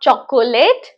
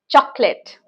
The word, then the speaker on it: chocolate: So how do we pronounce this word as? Some people call it as chocolate. This is not chocolate. This is chocolate.